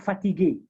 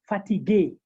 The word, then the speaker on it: fatigué: We can have another example where we can have l'accent aigu, like fatigué, the adjective fatigué.